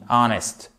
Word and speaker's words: honest: C'est un des très rares mots avec notamment honest qui commence par un H et qui voit ce H muet. OK ? On dit pas honest, on dit honest.